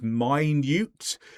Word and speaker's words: minute: Now notice this is minute. Listen to the pronunciation. It's different to minute. Minute is to do with time. Minute. Same spelling, different pronunciation means something very small.